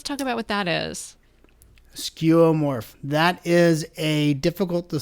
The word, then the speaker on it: skeuomorph: talk about i'm not sure i'm going to pronounce it right but i think it's skeomor for skeuomorph let's let's talk about what that is skeuomorph that is a difficult to spell and pronounce